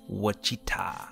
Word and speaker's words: Wichita: is it what cheetah how do you pronounce it oh I just heard it it's what cheetah okay for those of